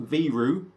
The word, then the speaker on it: Viru: so like i say out of estonia it's pronounced viru they do small batch craft beer this is